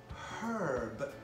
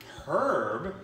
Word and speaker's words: herb: H I actually say herb herb I don't say herb you say herb you don't pronounce the H and because we pronounce